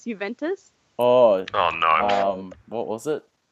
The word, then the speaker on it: Juventus: Can you tell everyone how you used to pronounce Juventus? Oh no. What was it? Javuntas, yes.